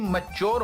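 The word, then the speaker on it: mature: तो सही पड़ेगा भाई यह मटरे के स्पेलिंग क्या होते हैं एम ए टी यू आर ई मटोरी और बेवकूफ यह लफ्ज मुटरे नहीं मच्योर होता है तालीम की यह हालत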